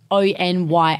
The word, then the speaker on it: Anya: No, but Anya, we say like Onyya. Yeah, I know, when but it's it's like not spelt like that.